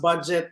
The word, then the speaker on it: Budjette: what do you do yes my name is budget it's pronounced budget please do not ask me anything about finance